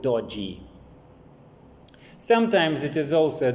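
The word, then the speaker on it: doji: thing which is called japanese call it dodi or dorji in english they do not they cannot pronounce it like chinese or japanese it's a dodzi something of the sort but because they cannot pronounce it they spell it like d-o-j-i and call it dodgy sometimes it is also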